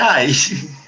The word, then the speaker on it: I: Porque é o pronome, a pronúncia é ai.